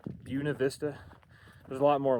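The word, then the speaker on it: Buena Vista: All these Coloradoans here are illiterate or something. Celida is Salida. Buenav Vista is Buuna Vista.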